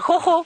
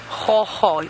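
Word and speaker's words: gogga: So hoho is a word we use in South Africa for insects. It's a strange word. Hoho. G-O-G-G-O. Hoho. That's how you spell it, right, Senzo?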